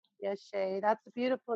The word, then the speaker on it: Yeshe: I am in bed with a sick cold today, so I have the time available, and I've been seeing, is it pronounced Yeshe? Yeshe. Yeshe.